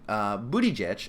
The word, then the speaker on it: Buttigieg: But here we have a Democratic candidate that is running for office, Major Pete Buttigieg.